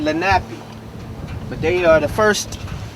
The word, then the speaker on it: Lenape: here before anybody else i believe you pronounce their name lenape but they are the